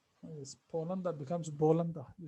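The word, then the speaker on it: بولندا: So with countries that start with a P, in order for us to pronounce them in Arabic, we turn the P into a B. Yes, like which one? Poland. So we say Yes. Poland. Yes, Bolanda. You say Bolanda.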